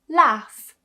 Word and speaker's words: laugh: In some cases towards the end of a word, gh is actually pronounced as f.